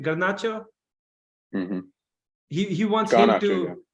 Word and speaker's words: Garnacho: He wants, you know, how do you pronounce his name? Garnacho.